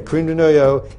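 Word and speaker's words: crème de noyau: use creme de noyau, which you going to pronounce it the right way? Yeah, that'll do. Okay, creme de noyau.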